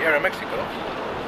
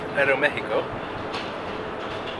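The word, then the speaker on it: Aeroméxico: so like i thought there's the air mexico or i should actually pronounce it about aero mexico and we just paused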